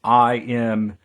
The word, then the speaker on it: Imamiah: In Hebrew, it's spelled Ayin, Mim, Mim, Yud, Hey. But for the most part, throughout the literature in Latin or English letters, it's I-M-A-M-I-A-H, Imamia.